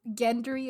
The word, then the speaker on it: Gendry: And there's also Gendry, as some people pronounce it Gendry. So Gendry? yeah, like Gender-y.